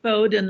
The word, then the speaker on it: Bowdoin: Birgit Tautz is George Taylor Files Professor of Modern Languages and Chair of German at Bowdoin College. I hope I'm pronouncing that right, Birgit. No, just Bowdoin, like cattle. Bowdoin, okay.